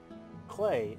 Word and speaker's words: Klei: team at clay entertainment clay it rhymes with play clay has made several